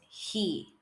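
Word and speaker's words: ሂ: Our third letter is He, and He is written in English as H-I. He. Our fourth letter, which is Ha, is written using the English letters H-A.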